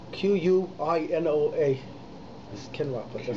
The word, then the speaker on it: quinoa: Asst he comes in here about quinoa quinoa spelled with AK u qu Ino a is quinoa person says boy n o a